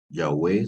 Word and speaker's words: Yahweh: De hecho, la palabra Yahvé, ¿verdad? Yahweh sería la pronunciación más o menos adecuada, ¿verdad? Acordémonos que es una palabra que no tiene vocales, ¿verdad?